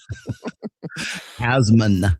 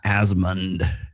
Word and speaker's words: Asmon: And he's not like creepy like Destiny, It's like Asmon, not Asmond. Asmon, right? Yeah, I'm saying it right.